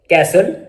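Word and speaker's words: castle: T silent, T इज not pronounced in these common words. मंदरजा जो words हैं इनमें T silent है। कैसल, फासन, listen, often, थिसल, विसल।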